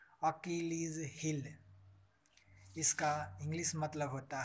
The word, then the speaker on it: Achilles heel: इसका उच्चारण होता है अकिलीज हील।